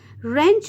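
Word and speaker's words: wrench: a silent टर word रेंच में भी डब्लू जो है वह साइलेंट आर की साउंड आएगी नोब में के एन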